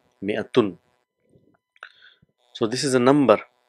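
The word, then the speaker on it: مائة: Few of the countries they don't write this alif, but normally if you see, so this alif is written but it is not pronounced, but it's just pronounced as mi'atin, mi'atun.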